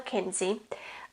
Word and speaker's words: Kinsey: Kinsey? Is that how you say it? Yeah, Angela Kinsey.